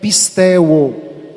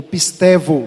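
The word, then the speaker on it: πιστεύω: E crer, ou seja, ter fé em grego é pisteuo, ou pistevo, se você for pronunciar no grego moderno.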